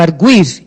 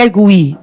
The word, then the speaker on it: argui: No verbo arguir, esse U é pronunciado, né? E no caso do verbo, ele argui, não é ele arguir, ele argui. O U é forte.